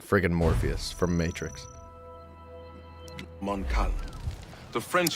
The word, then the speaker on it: Morpheus: That's Mobius, dude. Colonel Monroe surrendered to General... Watch. Oh, it's Morpheus, not Mobius.